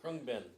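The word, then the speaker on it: Khruangbin: And then, and I have no idea how to pronounce it, Kwanbin, is that how you pronounce it? Krungbin.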